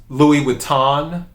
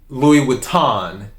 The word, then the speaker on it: Louis Vuitton: silent so it's not louis vuitton is louis vuitton the end the n is soft is what it is